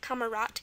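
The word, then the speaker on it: Kamerad: what kamarat is and it's it's pronounced t at the end so it's spelled with a d kamarat.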